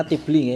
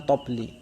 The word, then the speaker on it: tobli: Watobli biasanya orang bacanya tibli tapi ning nggone kamus niku di mana-mana kamus menyebutnya tobli.